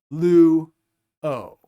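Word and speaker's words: λύω: is a dip thong, the vowels are going to be pronounced separately from one another as separate syllables.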